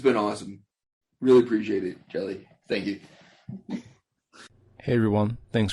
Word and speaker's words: YRDGZ: Um, it's everyone says yelli. Um, but it's actually jelly. Like peanut butter and jelly.